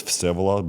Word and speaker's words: Vsevolod: like the full name is Vsevolod, but don't even try to say it.